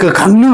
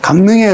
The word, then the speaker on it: 강릉: 이응하고 리을이 부딪혔어요. 이응하고 리을이 꽝 부딪혔어요. 발음이 어렵죠. 그래서 쉽게 어떻게 해요? 마음을 다해서 그 마음을 내게 줘. 뒤에 리을만 바뀌면 됩니다. 마음은 바뀌면 안 되죠. 앞에 게, 그죠? 바뀌면 안 되고, 뒤에 것만 내게 줘. 니은으로 강릉. 이렇게 발음을 하면 쉽습니다.